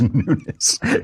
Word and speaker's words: Nunes: So Devin Nunes, or how do you pronounce it? That nobody knows how to pronounce it. It's Nunes.